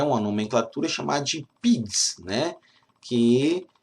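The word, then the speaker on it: PIIGS: Nós temos PIGs, que é um acrônimo, ou seja, a fonética é a mesma fonética quando você pronuncia com os dois Is e quando você pronuncia com um I só.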